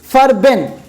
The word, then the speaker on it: Farben: तो इसको मैं लिख लेता हूँ, इसकी स्पेलिंग होगी, एक जर्मन शब्द है ये फर्बेन, FARBEN, इसको आप नोट कर लीजिएगा।